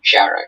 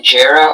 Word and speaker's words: Jarrah: The train ride through the national park went through a forest of Jarrah trees. This word is a noun. Are there any alternate pronunciations? This word is Jara or Jara.